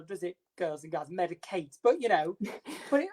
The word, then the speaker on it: MEDIK8: So Medicate is one of the best brands out there for retinols. Spell that for me.